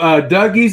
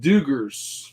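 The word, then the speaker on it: Dugges: is Blake what is our mercy brothers Oh dougies is pronounced Duggars Duggars okay I didn't know that is it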